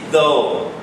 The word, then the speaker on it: though: again the pronunciation is though okay so U is silent though okay next uh course